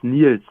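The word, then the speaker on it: Niels: is it Niles Nils how do you pronounce your name yeah it's and it's Neils okay Neils I was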